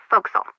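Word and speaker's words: forecastle: that okay ship fact the for Castle on a ship refers to the upper forward deck of a sailing ship but it's pronounced fil can you tell me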